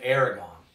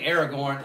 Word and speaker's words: Aragorn: the king figure in aragon aragorn air oh goodness gracious i said it wrong aragon that's the dragon that goes rawr in the book you know that's a different thing aragorn that's he is the